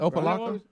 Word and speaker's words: Opelika: Opelika. Opelika. This is just what the emailer said. I'm like Bubba. It sounds like I'm saying the same thing he's saying. WNBC. What? I've never heard you say Opelika any different than Opelika.